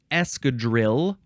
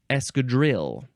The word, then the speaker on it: escadrille: don't know last word it's Escadrille or escad it is spelled e s c a d r i l l e seems like esri would be the more proper way to say it um because it is French but you know we Americans we don't like to say things proper we like to say Escadrille escad noun from 192